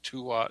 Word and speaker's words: Duat: the egyptians uh the egyptians called it the duat or sometimes two odd it's spelled d-u-a-t and um the hopi have a